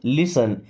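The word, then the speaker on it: listen: लिसन carefully, अभी देखिए इस लिसन वर्ड में टी होता है साइलेंट। क्या पढ़ते हैं? लिसन।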